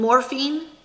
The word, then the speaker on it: morphine: Morphine. It's just two syllables? Yeah, morphine. Is it something else, maybe? It's okay. The way he says it, it kind of sounds like it's three.